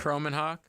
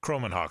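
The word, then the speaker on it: Kromenhoek: to make sure I say his name right croman Hawk croman Hawk so Luke croman Hawk and and Brock Glenn are young guys but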